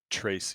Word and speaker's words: Trese: My dear Vikings, I welcome you to a DevTALK with the wonderful Is it Tracy Brothers or is it Tressett Brothers? To pronounce it correctly. Tracy. Tracy. Tracy Brothers, like that.